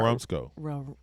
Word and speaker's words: Marumsco: Ooh, how do you pronounce that? MAR. Marumsco.